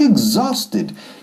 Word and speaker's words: exhausted: Ahora, pronunciación. Como huevo. Eggs. Y luego sonido de ese zumbido de la Z inglesa. Exhausted.